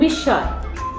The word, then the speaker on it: বিস্ময়: যেমন বিস্ময়, বিস্ময় উচ্চারণের ক্ষেত্রে বানানটা হচ্ছে বয়রসী, দন্ত স সাথে ম, তারপরে অন্তস্থ অ, কিন্তু উচ্চারণের সময় আমরা বলছি বিস্ময় বয়রসী তালবর স্বয় হসন্ত, আবার তালবর স্বয়ের উপরে চন্দ্রবিন্দু, তারপরে অন্তস্থ অ, বিস্ময়। তাহলে সেই ক্ষেত্রে আমরা দেখছি ম উচ্চারণ হচ্ছে না, কিন্তু ময়ের উচ্চারণ মযুক্ত ধ্বনিটি দুবার উচ্চারিত হয়ে যাচ্ছে।